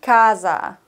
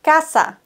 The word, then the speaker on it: casa: s merkt ihr unbedingt im spanischen wird ein S immer scharf ausgesprochen Laa ka ka nicht Kasa sondern Kassa S ist immer ein scharfes S das C das wirgt